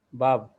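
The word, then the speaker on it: ו: Vav. V. Vav, bukan V.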